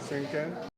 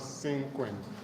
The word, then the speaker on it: cinquain: the next I put we're looking at is sinken it's what sinken okay so you write that down pleas write it down sink all right the s spell c i n